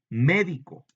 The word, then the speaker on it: médico: Me, primera sílaba, di, segunda sílaba, co, tercera sílaba. Entonces tiene 3 sílabas, ¿sí? Pero el acento lo estamos viendo ubicado en la antepenúltima, porque co es la última, di la penúltima y me, que es donde vemos ubicado el acento en la e, es la antepenúltima, por eso es esdrújula.